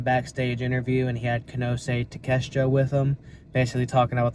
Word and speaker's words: Konosuke Takeshita: I keep saying his name wrong. Konosuke Takeshita.